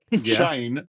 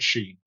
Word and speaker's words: Shane: Shane rhymes with rain and lane or similarly similar similarly to shine in some Germanic and Estonian context.